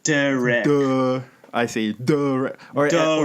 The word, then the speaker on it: Derek: Like, I'm a wreck of a person, and then it starts with duh, which is the stupidest syllable sound that you could imagine. Derek. So it's pronounced Derek.